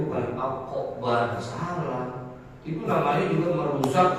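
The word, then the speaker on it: أكبر: Allahu akbar.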